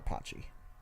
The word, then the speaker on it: Pachi: P-A-C-H-I. Pachi. Pronounce Pa. Like there's a W, but there is no W.